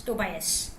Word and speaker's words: Tobias: i was told it is toe by s tobias right is it correct uh so say okay